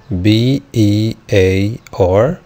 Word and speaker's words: bear: عندي كلمة bear B E A R، وخلي بالنا ان ال E مع ال A هتديني long E، واللونج E هينطق زي اسم حرف ال E، ولكن في الكلمة دي هتنطق bear.